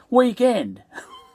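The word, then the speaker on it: Weeknd: say it like this weekend but um african americans um they spell it w-e-e-k-n-d um and still pronounce it as weekend you know now this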